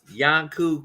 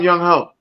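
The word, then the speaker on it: Younghoe: of course he has Yanku Kuku at fucking Atlanta kicker. No, you're saying his wrong name wrong. It's some young hoe.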